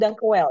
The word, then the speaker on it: dankjewel: dankjewel ya.